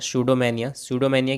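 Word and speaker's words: pseudomania: देखिए यहाँ P silent होगा, शूडोमेनिया क्या होता है, ए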